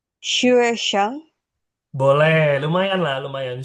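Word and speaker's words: 学生: Ini U-nya titik dua juga ya. Hmm, U-nya titik Uh, dua juga. uh, Xue Sheng.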